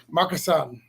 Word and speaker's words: Marcusson: So Mario will be after that, and Drea, and then Marcusson. Is that how we say it? I'm trying to say it right. You got it right.